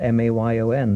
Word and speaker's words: Mayon: Dien And you find Table Mayon down near Land's End. It's spelled M-A-Y-O-N.